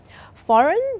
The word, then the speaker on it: foreign: Foreign, you can't hear the G.